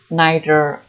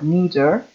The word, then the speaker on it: neither: And both, neither or neither, two pronunciations, two correct pronunciation.